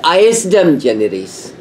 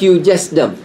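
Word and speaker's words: ejusdem generis: e j u s d m it is pronounced isdom generes not you justum isdom generes now again it says of the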